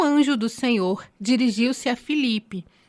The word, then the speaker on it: Filipe: nome dele né que eu até falei Felipe mas é Felipe fica difícil né porque nós a brasileir algumas coisas né e a gente troca Às vezes o e pelo I né na nossa pronúncia às vezes na forma de falar mas na nossas nas nossas bíblias é Filipe I Então vamos pegar aí